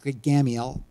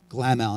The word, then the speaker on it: Gamaliel: And this guy named Gamaliel, a million different pronunciation, use your own, won't make a difference. I'm going to use Gamaliel because that's what I've always heard.